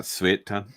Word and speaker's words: Suiton: Well, it's spelled Suiton. It's pronounced Suiton. Yeah, I just do this sweet. Sweet. Yeah, sweet ton.